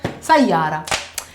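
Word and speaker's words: سيارة: We don't pronounce the T. We don't say sayyarat. We say sayyara usually.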